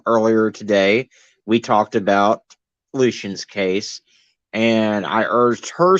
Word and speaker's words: Lucian: Um, so I guess I just wanted to go over a little bit about what's going on with, how do you pronounce it? Lucian? Lucian.